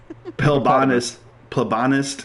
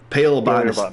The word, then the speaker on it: paleobotanist: Plebonist. Pronounced hippopotamus. Paleobotanist.